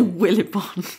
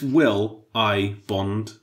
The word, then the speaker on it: Willbond: name wrong so we we say will it Bond I think will bond it's CU it's will I Bond like there's an i in the middle is there actually yeah